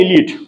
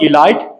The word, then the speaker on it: elite: So that's what called elite. That's not elite, it's elite. It's E. This is E.